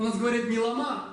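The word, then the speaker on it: བླ་མ: Существительное, двусложное, тибетский язык. Ударение на второй слог.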